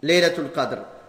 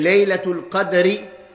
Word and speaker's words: Laylat al-Qadr: Il faut savoir qu'il y a deux prononciations pour Laylat al-Qadr. On dit Laylat al-Qadr avec un fath sur le dal et Laylat al-Qadri avec un sukun sur le dal.